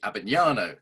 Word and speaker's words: Abbagnano: the show today, Anthony Abbagnano.